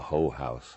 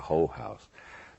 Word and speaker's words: whorehouse: And there was a whorehouse a hoe house. I like the southern pronunciation, a hoe house.